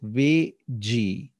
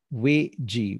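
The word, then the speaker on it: 危机: In Chinese, the word danger is pronounced as Wei Ji. Wei Ji.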